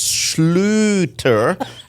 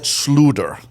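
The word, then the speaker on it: Schlüter: It's the U with the two dots. It's an oo.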